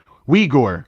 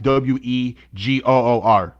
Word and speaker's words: Uyghur: Uyghur. That's how you say it. Uyghur. Yeah, like it's like you say it With a like W, water. yeah, like you pronounce it like Wegoor.